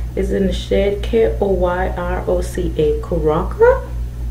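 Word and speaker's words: Koyroca: This one is in the shade K-O-Y-R-O-C-A Karaka. Maybe the Y is silent, we'll figure it out.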